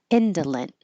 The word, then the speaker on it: indolent: Mark after it so remember you don't release the t t noise if it's at the end of a sentence or before a pause or before a word that begins with a consonant so you'll only hear it if there's a a vowel after it so individually indolent let's hold the t indolent pungent and this